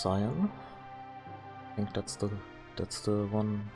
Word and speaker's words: Cyan: So his original name is Cayenne, like the pepper. So I guess it's pronounced Cyan.